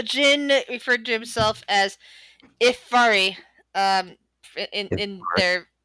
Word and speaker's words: Ifari: dates all right uh grace how do you pronounce the name of the gin again uh the jinn referred to himself as ifari um in their ifari i-f-a-r-i okay cool okay yeah i'm going to